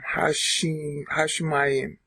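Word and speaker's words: השמים: Okay, there's a dagish inside the sheen. So, Hashemayim.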